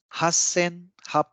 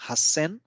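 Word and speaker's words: 八千: eight thousand eight hundred eighty eight Hassan this is a very interesting number because there are exceptions in at uh like at least two places so 8 000 is Hassan 800 is 80 is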